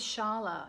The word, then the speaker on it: Scialla: I actually found Janelle on YouTube, so if you look her up, her name is Sharla. It's spelt kind of an Italian way, I think, S-C-I-A-L-L-A, S-C-I-A-L-L-A.